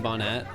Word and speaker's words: bonnet: Put an emphasis on the end of bonnet. Oh, is it not T? You don't say the T sound.